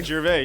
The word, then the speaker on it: Gervais: I'm saying it right? Yeah, Gervais. Yep, Gervais. You got it. All right. This is silent.